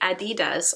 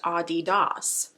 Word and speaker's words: adidas: i used to say adidas all of the time and i was corrected about a year and a half ago that it's actually pronounced audi dos don't say adidas that's